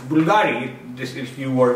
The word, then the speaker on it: Bvlgari: it's bbl gari but when you pronounce it it's simple bulgari this is you or